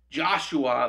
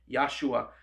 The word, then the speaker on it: Yeshua: clumsy english tongue but joshua there's no ja in the hebrew language it was ya yahshua same name for jesus